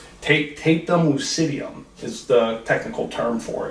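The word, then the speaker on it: tapetum lucidum: I'll have to look at my notes here to pronounce it correctly. Tapetum lucidium is the technical term for it.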